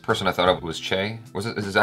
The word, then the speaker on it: Che: You know what's interesting is watching this, the first person I thought of was Che. Is that how you say it? Che? Che.